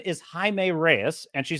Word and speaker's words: Jaime: anyway so she so she could be reading it as Jamie and mispronouncing it and then he could audibly say it's pronounced Jaime and I think yeah